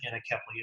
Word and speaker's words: anencephaly: So several years ago, my first child died of a condition called anencephaly, or some pronounce it anencephaly.